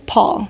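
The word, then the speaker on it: Pwyll: So she was in the forest, and she happens upon this king, and his name is Paul, but not spelled like the American Paul.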